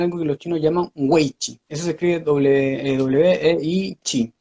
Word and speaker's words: wei chi: voy a tener algo que los chinos llaman wei chi. Eso se escribe W-E-I chi.